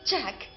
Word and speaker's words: Jack: Son nom se prononce à l'anglaise comme ceci. Jack.